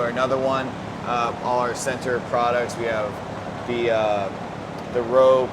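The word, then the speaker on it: Centr: Sensory. Center.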